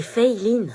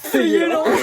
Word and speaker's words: Feyeline: C'est Feiline. Fayelin. Fayelin. Feyeline? C'est Feiline. Bah, c'est écrit Feyelin. Oui, mais ça se prononce Fei, c'est américain en fait, et Line parce que c'est asiatique.